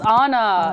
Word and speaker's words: Anna: say anna's name right it's honor it's definitely honor honor it is because the a in dutch like how do you